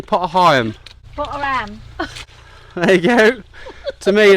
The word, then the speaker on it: Potter Heigham: We will just clip a bit of Hickling Broad before we turn off left and head back to Potter Heigham.